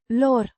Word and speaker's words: lor: A possessive pronoun meaning their, pronounced Lor. similar to the English word law, but with a softer r sound.